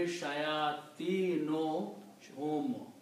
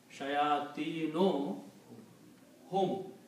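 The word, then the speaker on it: شياطينهم: So if you combine these two, you will not pronounce two dhammas, one. It will be shayatino hum. Shayatino hum.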